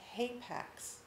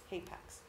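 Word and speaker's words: hapax: it's likely Jacob's Ladder because ladder is a hay Pax in the Bible that's your new word for the day Apex it's spelled h-a-p-a-x Apex it means there is only one occurrence of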